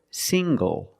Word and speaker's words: single: Also this word, single. Single. The ng makes the nasal sound plus the hard g.